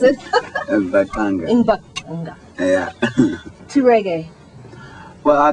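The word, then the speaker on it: Mbaqanga: So Lucky, when did you decide to change from Zulu Mbangwanga, is that how you pronounce it? Mbangwanga.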